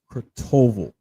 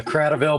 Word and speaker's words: Cradaville: Kurtoval. I'm hoping I'm pronouncing it right. did I get it right? You're very close. It's Cradaville, but it's a tough last name.